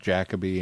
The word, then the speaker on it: Jacobi: Finding out that his name is pronounced Jacobi and that Glenn has been right all this time, that's not one of the things that I about this set.